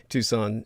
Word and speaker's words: Tucson: Tucson is spelled like tuxen Tu s o n put the word the